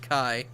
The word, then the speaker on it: chi: entirely yeah funny enough I always thought his name was like pronounced fee it does look like what it's pronounced and the the letter after looks like Chi but it's it's fi and Kai oh all right it